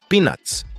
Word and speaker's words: peanuts: amendoin nats amendo in perceba que essa palavra tem dois Ts então a pronúncia desses dois Ts vai ficar com o som de R como em Carambola Cotton Candy é uma